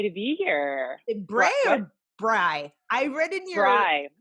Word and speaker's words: Brey: Bray or Brey? I read in your Brey. Brey. It looks like Brey.